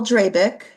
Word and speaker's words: Drabik: Brass tax here uh Paul dreik I believe that's how you pronounce it d r a b